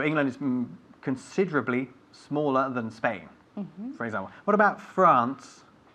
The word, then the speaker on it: Spain: s sound the S Plus consonant is never pronounced s okay we don't say a Spain we say Spain we don't say a slightly we say slightly